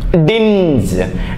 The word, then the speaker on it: dinge: പ്രതികാരം ചെയ്യുന്നതിനാ വെഞ്ച് ഡി ഐ എൻ ജി ഇ ഡിഞ്ച് ഡിഞ്ച് എന്ന് പറഞ്ഞാൽ ഒരു ഡിസ്കളറിങ് എന്ന് പറയും ഒരു